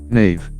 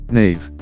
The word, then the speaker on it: knave: Words where letter K is silent. Knack. Knack. Knack. An acquired or natural skill at doing something. He had a knack for communicating. Knave. Knave.